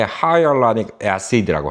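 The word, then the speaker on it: hyaluronic acid: 그리고 한국에서는 히알우론산이라고 하는데 하이얼라닉 애시드라고 하죠.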